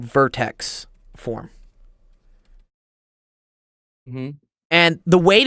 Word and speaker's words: vertex: No, it starts with a V, but it rhymes with I don't know, latex or something, or vertex. Yes. Vortex.